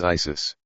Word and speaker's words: Iesous: The Greeks pronounce the name of Christ as Iesous.